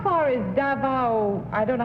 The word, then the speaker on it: Davao: Number two, how far is Davao, I don't know how to pronounce it. Is it Davao City? Yes, Davao.